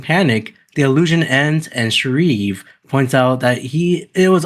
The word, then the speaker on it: Shreve: How do you pronounce his last name? Is it Shreve or Shriv? Shreve.